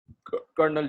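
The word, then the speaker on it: Colonel: है ये mall Flanders, कर्नल Jack और रोक्साना, लोनल जैक, और इसे कलोनल नहीं पढ़ना, कर्नल ही पढ़ना है। ठीक है, बेशक स्पेलिंग कलोनल होते हैं लेकिन पढ़ते इसे कर्नल ही है।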